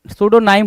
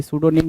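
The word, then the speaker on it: pseudonym: सूडोनाइम होना चाहिए था निम बोल रहा है सूडोनाइम होता है जो टर्म है वो सूडोनाइम है यहां पे निम लिख रहा लिख रखा है भाई सूडोनिम नहीं होगा सूडोनाइम होगा सूडोनाइम होगा राइट करेक्ट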